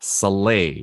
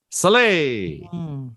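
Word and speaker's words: Salai: and then his uh his pupil slay which i think is how you say it here so s-a-l-a-i soleil now number eight he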